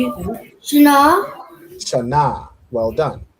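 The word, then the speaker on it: שנה: Shana. Shana. Well done. Right. So Shana is how you say year in Hebrew.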